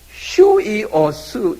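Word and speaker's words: υἱός: 그 독일의 아포스트로피에스라는 이런 게 이렇게 점 하나 딱 찍는 거예요. 그거를 요렇게 찍고 뒤집어 찍으면 발음이 달라지는 게 있어요. 요건 요렇게 뒤집어 찍으면 유가 뭐냐면 휴 발음이에요. 그렇죠. 예? 휴이오스 이렇게 나오는 거예요.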